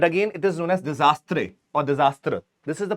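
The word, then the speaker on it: désastre: Now, this is the pronunciation that I'm making might sound funny, but again, it is known as disastre or disaster. This is the pronunciation that is there.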